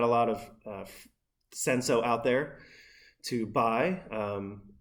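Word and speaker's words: Cinsault: was appropriate so uh senso is spelled c-i-n-s-a-u-l-t sometimes you see it on a bottle without the l um there's some uh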